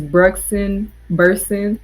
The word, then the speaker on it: Brugsen Bursen: Um, it is Brugsen Bursen.